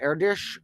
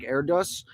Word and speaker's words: Erdős: Technically, I think it's pronounced Erdős or something like that, even though it looks like Erdős.